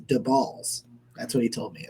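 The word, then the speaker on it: Daboll: uh in case you're curious it's it's not pronounced dable it's the balls that's what he told me it's it's the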